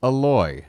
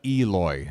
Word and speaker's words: Eloy: few times since yesterday it's aloy not Eloy I'm putting too much emphasis on the E it's uh the syllable you stress the the second syllable it's aloy aloy Jimenez so sorry